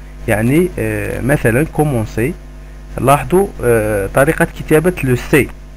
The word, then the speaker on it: commencer: افيك اون سي دي، يعني هاد الشرطة اللي تكون تحت السي بحيث نقدروا ننطقوه ان سي ماشي ان كا، لأن السي مع الاو والسي مع الا ينطق كا أو كو.